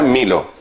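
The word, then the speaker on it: μήλο: Claro, la manzana en griego se llama milo. Se pronuncia milo, la manzana.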